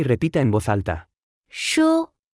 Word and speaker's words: 书: 书书书书书书书 Se pronuncia con el primer tono.